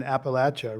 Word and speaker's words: Appalachia: Right, and I feel that anchor in your family, and also it feels like, rooted in Appalachia, a region that few Americans honestly visit or understand.